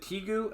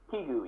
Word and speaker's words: Kigu: Is it Tigu? Am I pronouncing it right? Kigu, yes, Kigu.